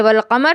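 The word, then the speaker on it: والقمر: जैसे यहां हम "वाल-क़मर" पढ़ते हैं, लाम का उच्चारण भी किया जा रहा है।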